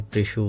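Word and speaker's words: précieux: का नाम मेंशन है, प्रेशियोस 1। यहाँ पे वैसे आपको प्रेशियोस लगेगा, लेकिन फ्रेंच में इसको प्रेशियो पढ़ते हैं, मतलब एक्स साइलेंट हो जाता है।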